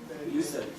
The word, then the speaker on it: Yusuf: How would an Arab pronounce Yusuf's name? Yusuf.